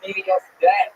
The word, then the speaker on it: PDS Debt: The B is silent. It's PDS Debt.